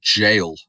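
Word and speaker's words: gaol: And I did this time it was the Adelaide Jail. And you can tell it's you tell it's got to be spooky cuz it's spelled G A O L. No jail.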